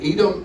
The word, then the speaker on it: Edom: It is at the Edom Art Emporium at Edom, Texas. Did I pronounce that right? Edom or Edom?